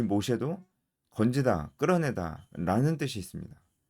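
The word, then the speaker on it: משה: 네, 히브리식 이름도 발음이 비슷해요. 히브리식 이름도 모쉐입니다. 모쉐. 모쉐입니다. 이 모쉐도 건지다, 끌어내다 라는 뜻이 있습니다.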